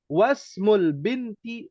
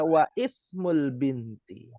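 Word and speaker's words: واسم البنت: Tapi ketika ada tambahan wa, lalu ada tambahan ismu, ya maka dibacanya apa? Wasmu. Wasmu. Ya menjadi wasmul binti. Wasmu. Ini jadi sukun. Nah, wasmul binti. Jadinya wasmul binti. Jadi tidak boleh dibaca wa ismul binti.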